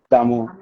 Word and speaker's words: D'Amour: Did I pronounce it correctly? D'Amour, yeah. But it's D'Amour. Yeah. Give it a little Spanish twang and you be straight. Okay, D'Amour.